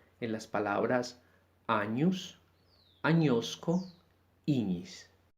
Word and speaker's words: ignis: Por ejemplo, en las palabras años, añosco, iñis. No decimos años, añosco, ignis, sino el sonido seco de la ñ.